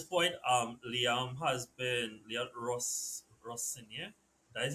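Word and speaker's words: Rosenior: Um Liam has been Ros Russia. That is how you pronounce it right now.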